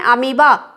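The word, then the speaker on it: amoeba: अमीबा है ठीक है लेकिन इसमें और क्यों लगता है और जो है बीच का साइलेंट लेटर है ठीक है स्पेलिंग क्या होती है Mi दिए लेकिन हम करना उस क्या करते हैं अमीबा ठीक है अब यह तो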